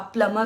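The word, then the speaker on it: plumber: अब प्लमर होता है, प्लम्बर नहीं होता है।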